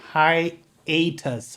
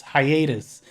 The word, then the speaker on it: hiatus: that makes sense high atas hiatus when i said that i knew that i pronounced it wrong but i didn't i